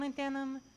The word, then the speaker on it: molybdenum: Europium, zirconium, hetium, vanadium, and molybdenum, and osmium, and astatine, and radium, and coprotect, and indium, and indium, and gallium, and iodine, and thorium, and thallium, and thallium.